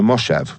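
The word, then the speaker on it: moshav: it mean Harare m-o-s-h-a-v oh that's actually a mistake on Wikipedia it's a moshev it's somehow got around that I live on a moshev which is some kind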